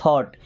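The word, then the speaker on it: thought: देखिए यहां पे जी और एच साइलेंट है ना? क्या पढ़ते हैं? थॉट।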